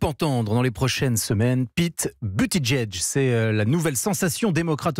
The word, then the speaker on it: Buttigieg: Comment vous le prononcez? Pete Buttigieg. Vous êtes sûr? Oui, sûr et certain. On ne dit pas 2 fois Edge? Non, parce que moi je regarde les late shows américains et j'ai vu les humoristes prononcer Pete Buttigieg.